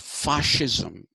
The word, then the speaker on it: fascism: them as laboratory animals and then you have fascism f-a-s-c-i-s-m pronounced fascism uh in italy which was under